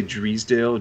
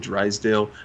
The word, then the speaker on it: Drysdale: attention to uh to would you guys say driesdale drysdale i what does steven say steven lives in beverly hills like what the hell it i believe it's drysdale i mean it's spelled drysdale maybe pete davidson says